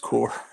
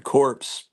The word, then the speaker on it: Corps: Green Lantern core and by the way it's pronounced core I was laughing because a sheep Comic Collector kept saying Green Lantern corpse that wouldn't be a